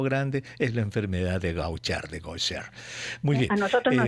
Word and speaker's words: Gaucher: Exacto, se pronuncia Gaucher, se escribe Gaucher para los oyentes curiosos que quieran buscar en el internet.